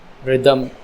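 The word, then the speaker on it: rhythm: sound silent हो गई एच से पहले अगर आर है ठीक जैसे य पर आया रिदम राइम राइजोम यहां पर भी एच की जो साउंड है व सेलेंट हो एच के पहले अगर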